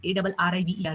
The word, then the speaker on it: arriver: But like in like for example, arrive, which means to come, ARRIVER. So the pronunciation is arrive. A her sound is there.